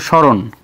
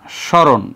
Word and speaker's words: স্মরণ: আচ্ছা সেটা পরে দেখ স্রণ এটা কিন্তু স্রণ না স্রণ না স্মরণ এস এই এজন্য এখানে আমরা তালুবাসা দিব আর মোরধন্য মারা গেছে দেখো ওখানে ইন্নালিল্লাহ এজন্য দন্তনা দিলাম আর মফলা উচ্চারিত না হলে সেখানে একটা চন্দ্রবিন্দু